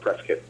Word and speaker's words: Prescott: It's spelled Prescott, but folks out there call it Prescott.